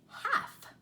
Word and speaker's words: half: So what letter is silent in these words? What letter do you not hear? Listen, calf. If you're thinking the L, you're exactly right, because I am not hearing an L when I say that word, calf.